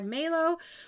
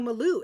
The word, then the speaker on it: Maloo: Then we have a simple granny stitch blanket by Melo or Molo or I don't know how to say it. I think I'm saying it right. No, Maloo. It's Maloo. Sorry.